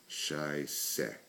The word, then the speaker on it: Scheiße: But the common one is, the word for shit is Scheiße, and it's pronounced Scheiße.